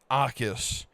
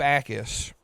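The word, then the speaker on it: Jacas: Um, Gabe, I think it's pronounced AUS, but there's a J in it. And at first I thought it said jackass, and that would have been a great name for a football player. Um um but Gabe Akis, I think is how it's pronounced, might be our best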